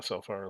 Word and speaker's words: Alfar: The the Alfar, I don't know how you pronounce that, but I'm just saying Alfar, like the L is silent.